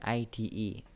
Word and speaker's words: IDE: ID bacanya gitu ya, ID bukan ID. bacanya IDE.